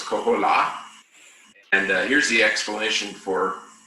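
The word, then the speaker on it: koholā: So the whale, the humpback whale in Hawaiian is called the kohola. The accent over the A is the emphasized syllable, so it's kohola.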